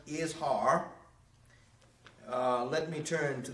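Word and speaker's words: Izhar: now i keep talking about these men who joined korra the others they were is har i s or i z h a r but is pronounced is har uh let me turn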